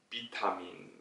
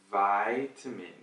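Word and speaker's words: vitamin: 싶으시면 그러면 바이트 밀 앞에 그 모음은 비는 아니야 e 는 아니고 빠이 빠이 빠이 타미 아이처럼 발음을 하시면 되요 소파 1 4 바이엘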